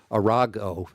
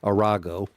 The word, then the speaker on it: Arago: want to start the story with uh um arago uh that's his name that's how you pronounce that I I just learned that today arago not surprising I suppose what he did he